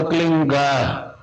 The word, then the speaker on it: क्लीं: की मात्रा और बिंदी, उसका उच्चारण होगा क्लींग गा। गा की ध्वनि निकलेगी पीछे।